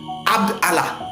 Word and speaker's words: Abd Allah: dira qu'il s'appelait Abdullah il s'appelait pas abdouah il s'appelait AB Allah Abd allahah donc A B d